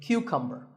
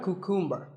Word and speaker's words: cucumber: This is a cucumber. It's not a cucumber. Think of it like saying the letter Q and then cumber like number.